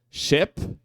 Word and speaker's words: ship: não são as mesmas ship ó como parece um é o eu ch é um e curtinho curtíssimo tá não é o e E tipo E a e não é esse e é o e curtinho tá Ele fica num